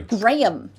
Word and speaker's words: Graham: You know how annoying it is if people call you Graham? It's like there's this two there's two syllables in your name. I thank you. Graham.